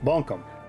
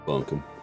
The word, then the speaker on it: Buncombe: That's Buncombe County, yeah. Buncombe. Buncombe. It's spelled weird. That's how I see it. I say it how I see it. Yeah. Buncombe.